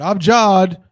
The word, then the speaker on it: abjad: A, B, J, A, D. It's pronounced abjad.